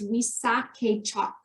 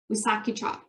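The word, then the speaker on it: Wisakedjak: So how to pronounce this, I might mess this up, but I'm pretty sure it's Wissahickok. Wissahickok.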